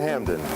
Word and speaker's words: Hampden: John Hampden was one of the first members of Parliament to question taxation of the colonies. For unknown reasons, the P in Hampden has never been pronounced.